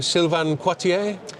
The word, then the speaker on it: Sylvain Quartier: And I'm delighted to be speaking to Sylvain Coitier from Equinox. That's my best French pronunciation.